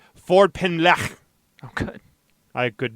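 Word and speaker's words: Ffordd Pen: name of the street I actually listened to a CNN report about the name of the street and I believe that's how they pronounce it Ford pen oh good I could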